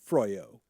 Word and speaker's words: Froyog: Toxic mother, sick brother, and setting boundaries from Froyog. Is that how you pronounce it? Froyog. Yeah. Hey, gentlemen and Jim. Oh. Hello. Hello. It's your old pal, Froyog. Froyog. Yeah. There it is. Like frozen yogurt.